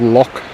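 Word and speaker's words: loch: related so they have lock as an l-o-c-h it's really more to do with pronunciation we have lock which is l-o-u-g-h so it's l-o-c-h versus l-o-u-g-h broke me in the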